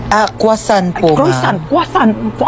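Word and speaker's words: croissant: Croyant? Ah kwasant po.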